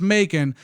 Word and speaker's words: Macon: I've been told that it's Macon, just like bacon.